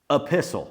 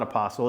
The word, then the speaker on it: epistle: Epistle sounds a lot like apostle, but it's not apostle. It's called epistle. Apostle spelled with an a. Epistle spelled with an e.